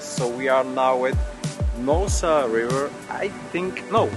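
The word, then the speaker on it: Noosa: we are now with Nosa River I think no you probably pronounce it NOA because you also say scoobydoo and this has also two o so that's my logic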